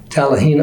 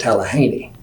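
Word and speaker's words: Talihina: And my first assignment was in Tallahena, Oklahoma. That's what everybody calls Tallahena. The locals will tell you it's pronounced Tallahaney.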